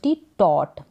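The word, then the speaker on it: taught: सिखाया टीचर ने पढ़ाया उच्चारण है इसका टोट सेकंड फॉर्म है टीच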